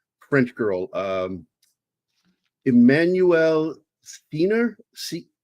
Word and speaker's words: Seigner: French girl, Emmanuelle Seigner. The G is silent. I think it's Seigner.